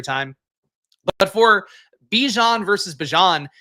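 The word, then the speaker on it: Bijan: Bjon here is how you're supposed to uh pronounce his name which I'm trying to do now.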